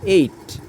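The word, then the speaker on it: eight: এর মত হবে হবে যেমন ই আই জিএস টি এইট যেমন এইট আমরা এখানে বানান করেছি জি এইচ উচ্চারণ কিন্তু হয়নি এখানে ই আই জিএস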